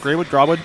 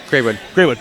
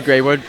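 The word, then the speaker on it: Grawood: Grawwood? Yeah. Graywood. There you go. Spelled Grawwood, I'm just saying. I don't know. Yeah. But, it's been... More officially, it's been like it's the Graywood. It's spelled like that, but it's a name, so we can go whatever.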